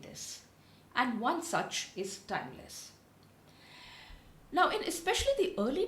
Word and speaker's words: Tymlez: and one is a company called timeless it's spelled as t y m l e z and the other